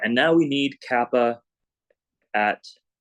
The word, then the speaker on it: kappa: All right, and now we need kappa at 0. By the way, yes, this letter that I'm writing is the Greek K. It's called kappa. Kappa. That's how it's pronounced.